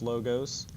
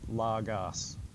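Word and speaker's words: λόγος: logos I pronounce this logos in some Greek classes they will pronounce it lagas now if you hear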